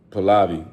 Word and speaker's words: Pahlavi: Well, yeah, so they took the hostages, whatever they feeling like, his name is Muhammad Pahlavi. I guess it's the best way to pronounce it.